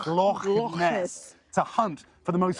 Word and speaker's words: Loch Ness: I went 200 miles north from here, right up to the top of Scotland to Loch Ness. You have to say it like that. Loch Ness.